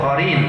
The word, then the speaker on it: qarin: Karim anaknya itu Oh qarin ya qarin qarin itu pakai Q pakai Qui tulisannya ini pakai kah kah itu kalau bahasa Arab Kha ya ini khi gitu bacanya qarin anak itu mengikutinya